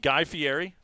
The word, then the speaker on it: Guy Fieri: 100% so um clearly guy FTI uh oh Guy Fieri yes FTI you got to say it correctly